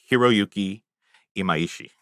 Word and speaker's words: Hiroyuki Imaishi: So when you're talking Studio Trigger, you're automatically talking about Hiroyuki Imaishi. And Okay. pretty sure I got that pronunciation right.